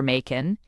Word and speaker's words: Machen: Knops admin applying modern techniques exhorted readers to remember Makin. It rhymes with Kraken.